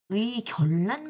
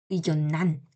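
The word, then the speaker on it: 의견란: 그러면 원래의 견난이 아니라 어떻게 발음해야 돼요? 의결란 발음해야 돼요. 의결란 그지? 유마 일어나면 근데 아니라는 거지. 요렇게 발음하지 않는다는 거야. 그냥 의견난 니은니은 발음한다는 거야.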